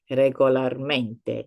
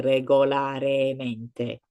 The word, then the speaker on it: regolarmente: So as I said, it just flows better when you are pronouncing it, when you are saying it normalmente, regolarmente, instead of normalemente, regolaremente. It kind of clashes a little bit.